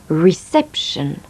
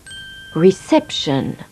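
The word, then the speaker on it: reception: à l'hôtel récéption réception en anglais on accentue la syllabe qui précède la finale sion réception réception swing band les jumeaux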